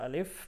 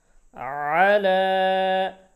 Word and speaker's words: على: তারপর হামজা জের ই, উলাইকা, উলাইকা, উলাইকা, আলা, আইন জবর, আবার লামের উপর খাড়া জবর, আলা, على أولئك على আইনের উচ্চারণ গলায় একটু চাপ দিতে হবে, على যাদের উচ্চারণ হয় না আইন উচ্চারণটা বারবার প্র্যাকটিস করতে থাকবেন।